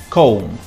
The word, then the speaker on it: comb: In English, when you find a word that finishes with MB, we don't pronounce the B. For example, climb, comb, num, bomb.